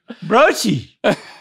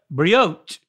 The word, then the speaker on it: brioche: The E is silent. Brioche. Oh! But the CH is not so hard.